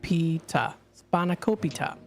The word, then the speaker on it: spanakopita: uh okay thank you he he puts the pronunciation here span aopi scop oh my goodness Spa naop spanakopita so we'll be talking a little bit about